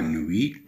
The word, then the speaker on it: nuit: T'es à la fin ne se prononce pas. Nui, leilun. La nuit.